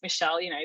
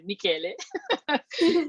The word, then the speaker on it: Michele: People will just pronounce it Michele, but at least I'll know that it's, Michele.